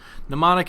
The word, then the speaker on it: mnemonic: Just mnemonic, it doesn't sound the way it's spelled, really.